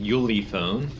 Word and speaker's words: Ulefone: decided to try this i think it's pronounced yuley phone armor x7 pro which